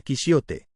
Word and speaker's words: Quijote: De ahí que Quijote se pronunciara Quisiote.